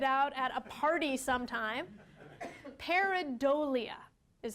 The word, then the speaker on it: pareidolia: Pareidolia is how you pronounce it.